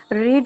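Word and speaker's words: read: रीड की जगह रेड हो जाएगा, स्पेलिंग आपको पता है सेम होते हैं, ठीक है।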